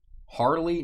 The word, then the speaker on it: Harley: Harley, no. It definitely rhymes with barley, and it's kind of a stupid name.